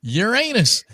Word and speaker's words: Uranus: Uranus. All right, thanks The to SC Montreal. pronunciation is Uranus.